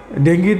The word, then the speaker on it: ডেঙ্গি: বর্তমান সময়ে ডেঙ্গু প্রচলিতভাবে যেভাবে আমরা বলি, আসলে এটার সঠিক উচ্চারণ হলো ডেঙ্গি।